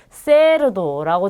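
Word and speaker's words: cerdo: 근데 이 쌍시옷은 우리 스페인에서는 보통 번데기 발음이라고 해서 우리 TH 발음이라는 거 알고 계실 거예요. 네, 그 발음이 납니다. 그래서 약간 쓰 발음이 나요. 그래서 세르도라든지 시타 이렇게 발음이 나고요. 남미죠. 라틴 아메리카에서는 세르도 시타 이렇게 발음이 됩니다.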